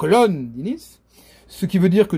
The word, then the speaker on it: Londinis: La première syllabe est accentuée, hein, donc Londinis, ce qui veut dire